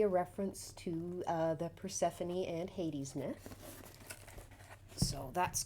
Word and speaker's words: Persephone: covid so forgive me but i was correct persephone and isn't that a lovely image with the